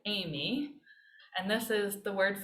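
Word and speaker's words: εἰμί: the very beginning it's just like the woman's name you pronounce it amy and this is the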